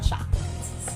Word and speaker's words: chocolate: much in love with chocolates so again chocolate is on the first syllable number two we have